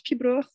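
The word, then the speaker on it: piobaireachd: Donc, ça se prononce pibroch, mais ça s'écrit différemment parce que c'est du gaélique et c'est normal.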